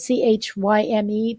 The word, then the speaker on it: chyme: It's spelled C-H-Y-M-E, but it's pronounced chyme.